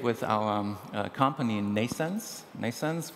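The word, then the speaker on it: NNAISENSE: our company in nasons nasens which is pronounced like birth but spelled in a different way neural network based artificial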